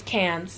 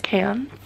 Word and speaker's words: Cairns: It's cans. Cans. Bonus, yeah. She said, bonus points if you pronounce it right. It's cans.